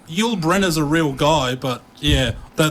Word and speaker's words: Yoolbrenner: How do you pronounce that exactly? Yoolbrenner. Yoolbrenner. Yeah. Yeah, that's what I try to say, but I often say Bringer because I'm an idiot.